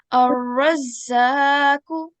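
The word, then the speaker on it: الرَّزَّاقُ: And remember, we can see that ra is color-coded, one of the color-coded letters. So they should be pronounced with a thick and heavy sound.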